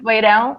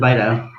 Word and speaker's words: Beirão: What's the correct pronunciation? Let me get this right. Is it Beirão or Beirão? Beirão. Beirão. Almost right. You say Beirão very well, Gary, because normally it's very difficult to the English person to spell Beirão because